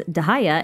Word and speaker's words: Dehya: But the same can be said for both Dia and Candace, whose names are more widely pronounced as Dahaya and Kandake, respectively.